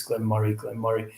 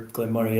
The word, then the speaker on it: Glen Moray: I was saying Moray like a Moray eel, and that's not like I always say as in Andy Murray, like the tennis player.